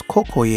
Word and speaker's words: Kokoye: Coconut, pronounced as Kokoye in Haitian Creole, is the fruit of the coconut palm.